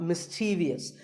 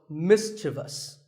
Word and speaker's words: mischievous: in the word mischievous this is not mysterious there is no I after the V the last syllable is just thus so mischievous and then there are